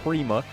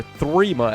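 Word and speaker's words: Thrima: The P, or the thing that looks like a P in Norse is pronounced with a TH. So, it's Arcane Threma.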